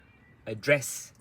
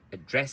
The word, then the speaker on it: address: Address. So you got address, so it's fast. Address is not address, it's address. So the stress plus the rhythm, address, okay?